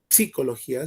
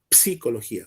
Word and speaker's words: psicología: Fíjate que la palabra psicología se pronuncia con una P al principio, psicología.